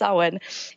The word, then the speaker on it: Samhain: you know Halloween or saman spelled Samhain pronounced Owen is really my favorite